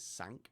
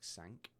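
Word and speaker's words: cinq: So on this example at the moment it says sank because that is how to pronounce five in French. It sounds like sank.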